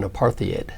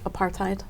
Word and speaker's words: apartheid: well only those countries that were involved in apartheid if I say it correctly apartheid apartheid exactly where for example the city of